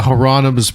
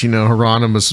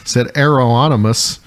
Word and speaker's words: Hieronymus: Which is all based on like Renaissance art, which Hieronymus Bosch, mispronounced by a lovely young lady on TikTok said Aeroonymus.